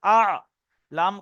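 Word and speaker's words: الأعلى: সুবহানা রব্বিয়াল আলা এখানে হামজা আইন জবার আ লাম খাড়া জবার লা আলা সুবহানা রব্বিয়াল আলা সবাই তিনবার করে মস করেন সুবহানা রব্বিয়াল আলা তিনবার করে পড়ে নেন।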